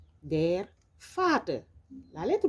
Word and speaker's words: Vater: La lettre V se prononce comme un F en français, c'est un V, der Vater.